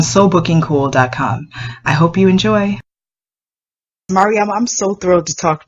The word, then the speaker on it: Mariama: Most often, they think it's Mariana with an N at the end, which is a beautiful name, but it's not my name.